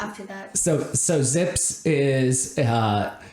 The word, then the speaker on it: ZiPS: a z and so he calls his projection system Zips instead of sips uh and frankly that